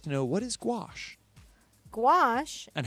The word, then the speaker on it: gouache: Rondo would like to know what is gouache gouache is and how do you pronounce it a gouache is a water-based paint it's a similar product